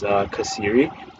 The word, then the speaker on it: Xeri: It is spelled with an X, but the pronunciation is Xeri.